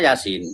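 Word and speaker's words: يس: Yasa tulisannya yasa tapi bacanya Yasin. Yasin gitu kan.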